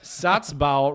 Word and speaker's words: Satzbau: And Satzbau rhymes with schlau in German, so it sounds really good.